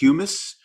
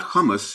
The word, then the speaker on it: humus: these things are the is the word pronounced humus that black earth not not hummus humus that that we need